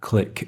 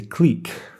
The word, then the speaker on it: clique: It's like the end of clique or click if you're from the US. I don't know what other English-speaking countries say. We say clique.